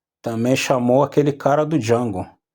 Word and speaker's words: Django: Eu me chamo Django, mas não escreve, se escreve de tal maneira, cara, eu sei. Só para falar o eu sei e fui embora. Como você se chama? Django.